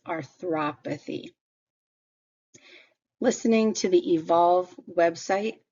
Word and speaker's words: arthropathy: Notice how the O here is where the hard sound comes. It's not arthropathy, it's arthropathy.